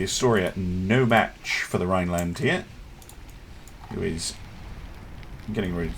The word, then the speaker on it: Rhineland: Don't pronounce the H, so Rhineland rather than Rhineland.